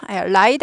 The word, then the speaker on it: right: R 발음 이거 중요하죠. right 아니고 right이죠.